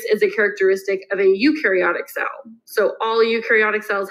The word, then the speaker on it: eukaryotic: those okay so a eukaryotic cell eukaryotic you have eukaryotic cells it literally has you in this pronunciation there okay a eukaryotic cell